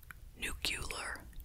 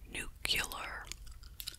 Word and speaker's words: nuclear: side note don't you love it when people pronounce nuclear nucular nuclear nuke Euler instead of nuclear gotta love it in